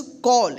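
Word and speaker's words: call: यहाँ पे देखिए सी ए डबल एल, इसको सॉल नहीं पढ़ेंगे, क्या पढ़ेंगे? इसको कॉल। या क्योंकि सी का दो उच्चारण हमने बताया था पिछले क्लास में, स और क, तो यहाँ पे क उच्चारण होगा कॉल।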